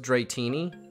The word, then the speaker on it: Dratini: just repressing it because art school it's pronounced dratini that's always oh you say dratini to to piss people off uh dretini uh oh god he looks like a